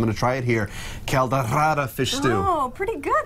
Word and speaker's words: Caldeirada: Today she's making, and you told me the correct pronunciation. I'm going to try it here. Caldeirada fish stew. Oh, pretty good there, buddy. Yeah, thank you. Caldeirada, yes.